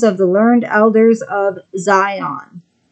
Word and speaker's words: Zion: Such was pre-designed according to Illuminati's manual, the protocols of the learned elders of Zion. It's really supposed to be pronounced Sion, but here it's spelled with a Z.